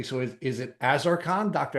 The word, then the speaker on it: Azarcon: So, let's let's first make sure that I'm pronouncing your name correctly. So, is is it Azaran? Dr. Azaran.